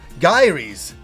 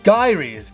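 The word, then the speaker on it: Gaiares: the original game and I always pronounce it Diaries it's gyries this is the most confusing title it's so confusing that on the ad itself it shows you how to pronounce it the original ad back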